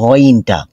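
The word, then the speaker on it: غين: নুক্তা চলে আসবে তখন এটার নাম হয়ে যাবে গাইন গাইন আচ্ছা মাখরাজটাকে আমরা দেখে নেই কণ্ঠনালীর উপরিভাগ অর্থাৎ আমাদের জিহবার যে শেষ অংশ শেষ অংশ এবং গলার শুরুর অংশ এখান থেকে নির্গত হবে বের হবে এই গইনটা লম্ব হবে চার আলিফ পরিমাণ গাইন গইন গইন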